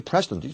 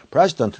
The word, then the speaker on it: president: 남한 대통령이 코ore아 president 사우리언 사ut 코리아 president이 프레시던트이 잘못됐네요. pres시던트가 아니고 이건 프레지던트 노무현이 외국 사람들은 막 이런 걸 정확히 하기 위해서 노무현 하면 되는데 너무 현 대답을 발음을 해요.